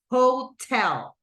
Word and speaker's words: hotel: Hotel, right? And this one right here is the stress syllable.